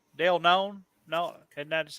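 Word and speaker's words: Dale Keown: yes yeah pit uh by no none right dale known no and that's how you say his name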